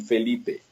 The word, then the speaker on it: Felipe: moved to the US it became Felipe which I got really used to so now when somebody says in the other way other than the Spanish pronunciation I get a little surprised in any case I